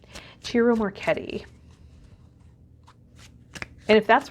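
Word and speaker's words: Ciro Marchetti: Jiro Marchetti Jiro Marchetti I've mispronounced his name in the past in readings but it's Italian I should know better I studied opera I am Italian I should have known cheerio Marchetti and if that's wrong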